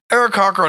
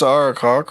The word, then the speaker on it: Aarakocra: yeah, Aarakocra don't know when they're going to die.